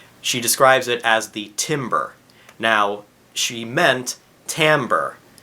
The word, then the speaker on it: timbre: Timbre is wood, and just because a lot of our instruments are made of wood doesn't mean that they sound like wood.